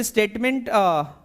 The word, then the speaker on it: statement: MENT के जो pronunciation होती है डियर वो मंट होती है, बट हम लोग मेंट बोलते हैं, चूंकि वो इन जनरल है, इन कॉमन है, सब लोग यही बोलते हैं। बट स्टेटमेंट सही है, मैं गलत नहीं कहूंगा, बट स्टेटमेंट इज the correct pronunciation.